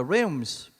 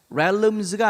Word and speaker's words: realms: realms. realms가 아니에요. L 발음 안 해요.